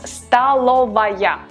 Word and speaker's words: столовая: We write столовая, but we pronounce столовая.